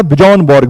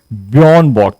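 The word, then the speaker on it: Björn Borg: तो मैं इनका नाम पढ़ा करता था बिजन बर्ग बिजनबर्ग बियन बर्ग था बेसिकली। ठीक है? तो कहीं-कहीं पे ज सॉरी जे साइलेंट हो जाता है।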